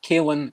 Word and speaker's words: Kalen: And they got him to say his name, and he explained that it's kale, as in the food kale, Kalen Lochran.